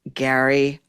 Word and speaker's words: Gerry: His name is spelled Jerry, but he pronounces it Gary.